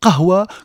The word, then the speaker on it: kawa: Et quand on dit kawa, bien évidemment, on prononce à la française le mot kahwa que nous prononçons de manière relativement difficile à rendre pour les locuteurs de langue latine.